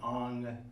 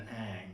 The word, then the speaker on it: Ang: I said a minute ago, you pronounce his name Ang Lee rather than Ang. It rhymes with Hong Kong.